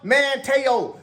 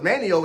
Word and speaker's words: Manteo: His name ain't Manteo, got doggone it. Start getting it right, people. I know what it look like when you spell it. It ain't pronounced Manteo. I know I'm not the person to be talking about nobody's name, to be honest with you. I didn't know it was Manio until I just got the